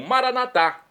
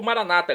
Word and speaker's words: Maranatá: E agora eu clamo Maranatá, do aramaico dialeto de Jesus, como dizemos nós católicos, ou Maranata, como dizem nossos irmãos das comunidades evangélicas ou protestantes, nossos irmãos separados. Não importa, a pronúncia, o significado é o mesmo.